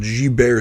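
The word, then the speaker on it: Guillain-Barré: about something called uh it's called G bear syndrome but it's spelled Gilberts no but someone decided to be fancy with this [ __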